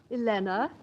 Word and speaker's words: Elena: Elena. Rhymes with Vienna.